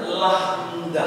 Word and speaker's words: lambda: seperti itu hurufnya perhatikan kemudian dibacanya lahmdah lah yaitu ditritrasikan dengan huruf L seperti pada kata lagu ya kemudian mu Jadi kalau